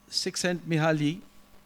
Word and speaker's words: Csikszentmihalyi: This theory was first pondered by Csikszentmihalyi. It took me about 18 years to pronounce him correctly.